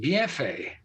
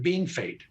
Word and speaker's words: Bienfait: Saskatchewan, very near the North Dakota border, called Bienfait, Bienfait, Bienfait. French. But the locals have always called it Being Fate.